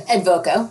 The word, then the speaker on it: Advoco: your career now at Advoco. Am I pronouncing that correctly? Yeah, Advoco. Advoco? I usually get avocado.